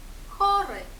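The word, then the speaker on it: chory: Буквосполучення Х читаємо просто як ха. Наприклад, у слові хори.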